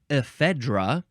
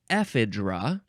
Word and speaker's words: ephedra: is related we have AET ra or idra you can emphasize either the first or the second syllable e e d r